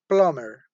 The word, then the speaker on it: plumber: under does sound earth next example plumber plumber okay remember in this case the letter B is silent why because we have to buy labels together plumber do you have